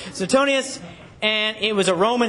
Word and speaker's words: Suetonius: also historian you have sent Oni thank you I looked at the pronunciation soon Suetonius and it was a